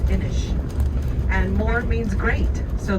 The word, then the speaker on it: Inis: So Inish is the word for island in Irish. It's spelled I-N-I-S, Inish.